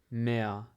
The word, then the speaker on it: mehr: И когда буква R в конце слова, обычно немцы не произносят ее. Это как британцы произносят, не произносят R, например, на английском car, и немцы говорят, например, mehr, это значит больше, mehr, пишется M-A-H-R, mehr, либо есть слово Lehrer, пишется L-A-H-R-A-R, Lehrer. Я произношу первую букву R, а вторую нет.